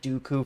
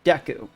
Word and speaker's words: Deku: I have always pronounced it Dooku for some reason since I was a kid.